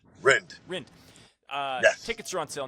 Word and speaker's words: Rind: Am I pronouncing that correctly? Rind or Rind? How do I pronounce that? Rind.